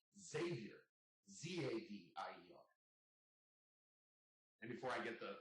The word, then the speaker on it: Xavier: That's where Xavier comes from, because it's spelled with an X, but it's pronounced with a Z. Xavier, Zavier.